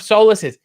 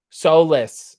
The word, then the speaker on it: Solis: rj did you find out with the proper pronunciation of solace's yes and i just talked to them today because we've just picked something solus solis not solace soulless s-o-l-i-s i think it's a